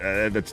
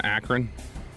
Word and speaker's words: Akron: They're still a good team, and they get Akron, who also is a good team, and they get that's a team with good guard play. Miami of Ohio plays SMU. Did you just go 3 syllables on Akron?